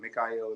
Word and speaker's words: Mikhael: and also go by Mel for short but Mikel is the right pronunciation okay awesome that's how been saying it